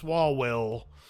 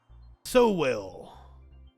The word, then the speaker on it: Sowell: Only in defense of shitty people like Thomas Swalwell. Or Sowell, or Sam. Somebody tell me how to pronounce it.